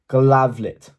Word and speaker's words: Glavlit: And then by 1922, he also creates Glavlit, that is spelt how it sounds, and it's basically just professional censorship.